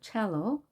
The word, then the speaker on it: cello: 악기 이름이 cello입니다. cello. 치 발음인데요. 단어는 C로 시작합니다. 유의해야 될 단어죠.